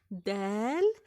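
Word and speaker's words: دال: A dal is the counterpart of the English letter D, which is pronounced by having the tip of the tongue pressed against the top of the mouth, right behind the front tooth, then slightly pushing air, separating the tongue and the upper mouth.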